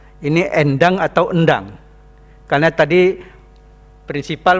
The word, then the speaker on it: Endang: Jadi ini endang bacanya. Endang. Ya, bukan en.